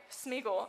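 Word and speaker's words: Sméagol: So this is Smeagol, right? Cutter, did I say his name right? Smeagol.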